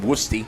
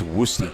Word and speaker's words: Woosty: it's pronounced Woosty. Is it? It is. Okay. I ran into an Oakwood guy, and he said it's Woosty.